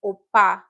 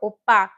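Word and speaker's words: 오빠: The double B consonant gives us a PP sound now. So it's pronounced P, a sharp P sound. So it's opa.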